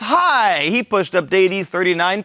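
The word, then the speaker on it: Hai: Well, the correct answer, it rhymes with die, it's high.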